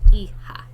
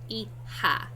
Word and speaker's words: hija: J's are pronounced like H's in Spanish, and H's are silent. So it's pronounced hijo, not hijo, or however else you would try to pronounce it. Hijo and hija, all right?